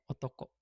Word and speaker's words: 男: Kalau kunyominya ini nih enggak punya okurigana, berarti kalau si Kanji ini berdiri sendiri dibacanya otoko. Kunyominya ini prioritas nomor satu dibacanya otoko gitu.